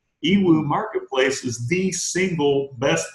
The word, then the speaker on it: Yiwu: and you know so i started going to ewoo because for me which is spelled y i w u ewoo marketplace is the single